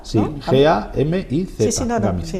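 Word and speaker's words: Gámiz: Gamiz con acento en la A, Sí, ¿no? G-A-M-I-Z.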